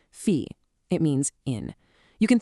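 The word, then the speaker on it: في: And it's pronounced exactly like it looks, fe.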